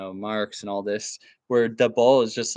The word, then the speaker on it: Debord: I actually think that Debord, watch out, Anglos, I'm going to pronounce it the French way. I think that Debord is like, a little